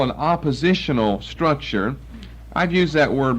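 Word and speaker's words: appositional: what we call an oppositional structure I've used that word before it's a grammatical term spelled with an A and not an O but it sounds like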